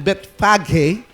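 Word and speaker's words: Bethphage: Bet sabi Bethfage pero gamitin natin 'yung talagang ano pronunciation Bethfaghe and Betony on the Mount of Olives.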